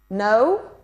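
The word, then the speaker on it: know: No, without K, because K is a silent sound. Silent K.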